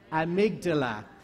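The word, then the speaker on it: amygdala: y g d a l a so let's pronounce it it's the amydala and it's in which system the limbic system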